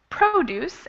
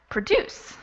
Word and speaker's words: produce: So our first set, we have produce and produce. So produce, the stress is on the first syllable, and produce, the stress is on the second syllable.